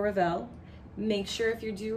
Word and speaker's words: Ravel: Don't pronounce the final schwa for Ravel.